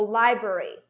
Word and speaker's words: library: was more important so library library lie is more important brewery will be very